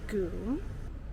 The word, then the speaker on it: GUM: It's spelled gum in all capitals, but pronounced goooom.